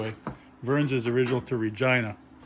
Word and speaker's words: Regina: Vern's is original to Regina. It's actually the city that rhymes with fun, if you didn't know that.